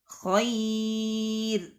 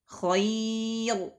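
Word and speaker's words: خير: Seharusnya dibaca tipis malah dibaca tebal. Nah, nahwu contohnya kabir, basir, khair, tipis, ya. Jadi tidak dibaca tebal. Kabir, basir, khair. Nah, tidak. Tapi dibaca tipis. Kabir, basir, khair. Ya, dibaca tipis.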